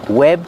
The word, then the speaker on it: webbed: Pronunciation, webbed feet. You don't really hear the D if you link the sounds together because it's a stop D.